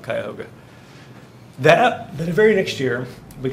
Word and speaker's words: Cuyahoga: The locals would call it the Cuyahoga River, but I'm saying it as it's spelled, Cuyahoga.